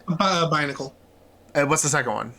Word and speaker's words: Binacle: But even more so than Pelipper, Barnacle... Is that how you say it? Binacle.